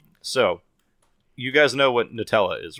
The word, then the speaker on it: Nutella: was it Nutella really but apparently apparently it's pronounced new Toa potatoz potatoz potatoz you know tomatoes tomatoes we